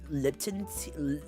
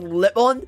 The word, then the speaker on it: Lipton: to make like lemon liptons I'm trying not to pronounce it wrongly like lip on but it's like it's pronounced as Lipton I think with a